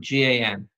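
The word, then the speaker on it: גן: in the garden now how do you say garden in Hebrew gone not gone sister gone GaN okay you got that it's a big gone GaN not a gong GA and every now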